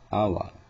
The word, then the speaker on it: hour: First name, hour.